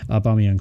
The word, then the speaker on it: Aubameyang: Aubameyang, sorry. Okay, I learned to pronounce the name correctly.